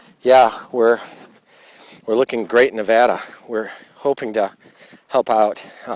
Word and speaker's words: Nevada: I went over to Nevada, pronounce it right, it's not Nevada, it's Nevada. It's Boise, not Boise, right?